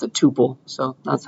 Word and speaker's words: tuple: things but everybody pronounce all the cool kids pronounce it Tuple so that's how I learned it that's how